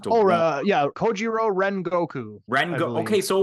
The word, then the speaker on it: Rengoku: I thought someone said Renoku. I'm like, okay, that's how you pronounce it.